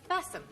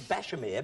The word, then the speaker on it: Bassam: And we have Margaret and Roger Bassam. I see. Margaret and Roger, it says Bashamir, but it is Bassam. Oh, it is Bassam. Oh, I see. That's the way it's pronounced.